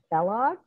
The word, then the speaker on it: Balogh: that i learned that you pronounce mary's last name bella as in kellogg like a cereal yeah um so that